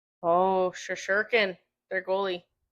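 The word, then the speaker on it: Shesterkin: Oh, Shashurkin, their goalie. Upper body injury. Igor Shasherkin. Is that how you say it? There's a T in there.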